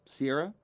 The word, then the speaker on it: Cera: Sarah. There's no I. I like to say it like the desert. C-E-R-A. Sarah.